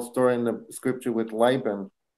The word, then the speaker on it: Laban: in the scripture with Laban, right? That his uncle, is that how you say it, Laban? In Hebrew, you say Lavan.